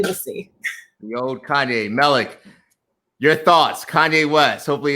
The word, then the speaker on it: Melik: So my name is actually Melik. Roland says Malik.